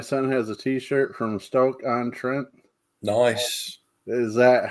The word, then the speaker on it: Stoke-on-Trent: Angela says my son has a T-shirt from Stoke-on-Trent. Nice. Is that how that's pronounced?